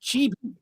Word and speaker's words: chibi: The real we were like, "No, no, this is this is pronounced chibi. Chibi, widow."